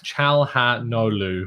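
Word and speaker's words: Çalhanoğlu: course today uh no chal ha no lu which i am now being reliably told um is pronounced without the the g the g is silent um but again criticize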